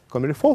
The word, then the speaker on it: comme il faut: и ведущий программы комильфо комильфо французское слово только пишется comme il faut переводится как так как